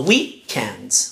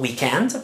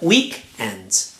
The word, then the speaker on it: weekend: The stress is on the first syllable. So weekend, weekend, not weekend, but weekend.